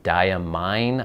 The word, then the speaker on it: Diamine: The actual manufacturer of the inks said that it should be Diamine, I think. I think that's how they pronounce it.